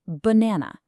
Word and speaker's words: banana: The stress is right in the middle. So that middle a gets a clear sound.